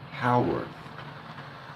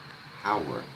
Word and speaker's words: Haworth: And I need to know, is it Hayworth? Can you write that out? Or is it Haworth? Because I'm going to react to that. I don't know how to say it. It's H-A Worth. If it's Hayworth, write that out for me, H-A-Y. But I think it's Haworth. Haworth. Sue's telling me. Haworth. Okay, Haworth. Okay, good.